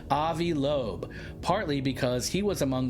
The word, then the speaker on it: Avi Loeb: Avi Avibe. Avibe. How do you say his name? Avi Lobe.